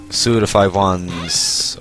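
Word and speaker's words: Suda51: misunderstood, and that was Suda 5-1s, or Suda 51, whichever way you want to call it. I think people generally pronounce it Suda 5-1.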